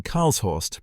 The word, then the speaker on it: Karlshorst: The next morning, April 22, Soviet military command in Karlshorst, pronounced K-A-H-R-L-S, Horst, invited Western journalists to tour the tunnel.